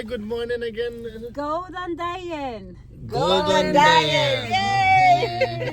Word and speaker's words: Góðan daginn: Góðan daginn. Golden Diet. Yay! Sounds like Góðan daginn. Go diet.